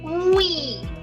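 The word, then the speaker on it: oui: We, but add we. We. Like it's like yippee, but it's that kind of intonation.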